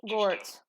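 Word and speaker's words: Görtz: Her last name and my son's last name is pronounced Gortz. Gortz. It's Okay. kind of a hard one. It's a German name, just like my last name is also German, so it's Gortz.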